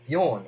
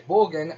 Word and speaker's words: Borgin: Slight side note here, I used to pronounce his name Bjorn in my head, and then I found out his name's actually Borgin.